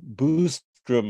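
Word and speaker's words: Byström: pronunciations often Erin so Malin booze drum I think is the correct pronunciation b-y-s-t-r-o-m um in what I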